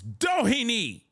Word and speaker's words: Doheny: It's Doheny. Doheny. Okay, Pascal, say it right, man.